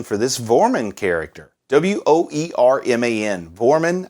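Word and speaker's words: Woerman: this vormin character w-o-e-r-m-a-n vormin i think is how you pronounce it and it's just such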